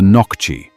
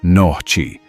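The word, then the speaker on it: Нохчи: The first written mention of the inhabitants of the region was in the 7th century, when they were known as the Nokchi, pronounced Nohchi,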